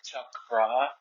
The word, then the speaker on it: chakras: the chras which are it's pronounced more like Chuck bra yeah okay I've met